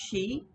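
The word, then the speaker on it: sidhe: uh so she is s-i-d-h-e is pronounced she and um so it's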